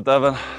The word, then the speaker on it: Devon: I always say it, but that's why they say Devon rhymes with heaven.